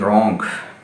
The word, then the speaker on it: wrong: इसमें W silent है, डब्ल्यू के बाद जब भी आर आएगा डब्ल्यू साइलेंट हो जाएगा। जिस तरह rate, WRIT rate, WRITE right, ठीक है। WRONG रॉन्ग, तो WRING रिंग, ठीक है जी।